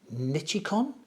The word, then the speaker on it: Nichicon: Japanese, I think you pronounce it Nichicon.